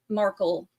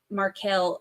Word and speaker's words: Markel: majority of the time I will still say marle because I read on this for so long before I ever heard anybody else pronounce it so in my mind it has been Markle for so long that swapping over to Marquel is incredibly difficult for me and we'll work through